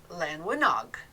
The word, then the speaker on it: Llanwenog: that is spelled l-l-a-n-e-n-o-g if i look went to google and ask how to pronounce it it's lan winog lynn something like that i'm sure that is a terrible welsh accent i wouldn't even begin